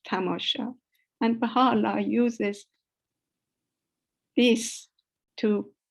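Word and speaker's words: تماشا: him means sightseeing but he could not pronounce the word probably properly he said tabasha instead of tamosha and bahala uses this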